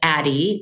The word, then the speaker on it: Addyi: So the product is called Addyi. I named it after Addison on Grey's Anatomy because I thought she was a badass, and live it on your own terms.